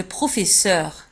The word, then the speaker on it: professeur: الأستاذ le professeur. un professeur le professeur. نفس الشيء بالنسبة لبروفيسور تكتب في آخر الكلمة بدوز اس اس او يو ار تنطق سور. professeur un professeur.